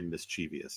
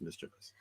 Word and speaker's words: mischievous: I bet 99% of people say mischievous and it's mischievous.